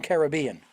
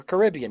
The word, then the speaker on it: Caribbean: catch a cruise ship the western caribbean or caribbean depending upon how you pronounce it yes uh first